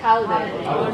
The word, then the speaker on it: holiday: Holiday. There we go. Holiday. Holiday. Holiday, right? I'm pronouncing every single sound.